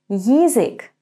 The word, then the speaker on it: язык: In the third word, язык, we're going to say Y and then и. Ї, язык. Язык. The beginning sounds a little bit similar to the English word yield. Ї, yield, язык.